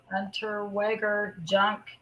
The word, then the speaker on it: Unterweger: But then it also brings up the other serial killer, whose name was, his last name is pronounced Unterweger Jack Unterweger.